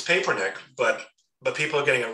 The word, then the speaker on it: Papernick: I mean, literally, I was in New York in the summer and I said, my name's pronounced Papernick. When you introduce me, it's got to be Papernick.